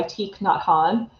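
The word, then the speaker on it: Thich Nhat Hanh: lover of books by teak not han that's spelled um t h t h i c h um n h a t and then h a n h he's a vietnamese monk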